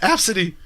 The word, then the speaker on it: ABCDE: Yeah, Absidy.